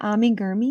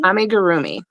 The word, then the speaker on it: amigurumi: Say it again, amigurumi? amigurumi, amigurumi. Amigurumi. Okay. I I think always that's right. It's probably not like how a Japanese person would say it, but right, right.